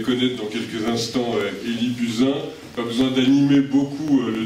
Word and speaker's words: Buzyn: un invité témoin exceptionnel, Élie Buzyn, on va prononcer comme ça, Buzyn, même si l'origine du nom n'est pas nécessairement française. Et évidemment, il y a